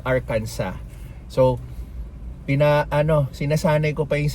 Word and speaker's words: Arkansas: sa proper pronunciation ng Arkanso. Kasi lagi po akong Arkanso ng Arkanso pero according to them is Arcansa.